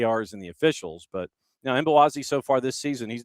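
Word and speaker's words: Mbokazi: South African center back Mbowazi. Yeah, he's been outstanding. Yeah, the M is silent, and you kind of have to take the consonants and just kind of mash them together. You can go Mbowazi or just Boazi, but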